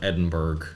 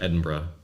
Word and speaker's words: Edinburgh: And you sounded extremely North American when you called it Edinburgh, I have to say. Oh, how do you say it? Edinburgh. There's no OU, it's Berg.